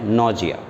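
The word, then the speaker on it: anoxia: condition is known as नोजिया ए एन ओ एक्स आई A this condition is known as नोजिया आइए इस पर एन ए नोजिया नोजिया होता है ए उसमें silent है एन ए एओ एक्स आई ए नोजिया ठीक है अब इस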